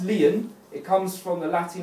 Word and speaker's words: lien: breath that's what a commercial lien is it's pronounced lion it comes from the latin origin link to